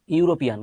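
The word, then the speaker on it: European: ইউরোপিয়ান, ইউরোপিয়ান, খেয়াল করো, এর উচ্চারণ কিন্তু ইউ এর মতো হয়ে গেছে। এর উচ্চারণ যদি ইউ এর মতো হয়, ইউ, তাহলে এ হবে।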